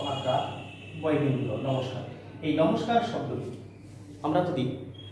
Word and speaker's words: নমস্কার: দন্ত ন ম দন্ত স্বয় প আকার কয়দিনগুলো নমস্কার, এই নমস্কার শব্দটি আমরা যদি কয়ের আগে দন্তস্বটা উচ্চারণ হয়েছে না আসলে কয়ের পরে উচ্চারণ হয়েছে